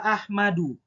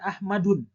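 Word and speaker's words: أحمدُ: itu isim guer munsarif tidak boleh kita membacanya ahmadun tapi ahmadu tidak boleh pakai tanwin yang keempat adalah nama orang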